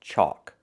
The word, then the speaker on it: chalk: This word is chalk. It has a different spelling. It has the AL, where the L is silent. Chalk. It makes the aw sound like walk and talk.